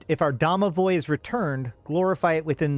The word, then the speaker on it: Domovoy: And if we look, some of the ways of pronouncing it is Domowick and Domovik, right? And Damovic. So the thing is that